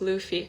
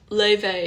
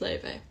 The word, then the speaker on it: Laufey: want to go oop i always pronounce it wrong like luffy i know people pronounce it all kinds of ways i mean pronounce it however you want but le vey is the closest levy levy baby although i